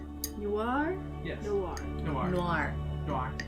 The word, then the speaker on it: noir: Noir. It's one sound. It's Noir. one syllable.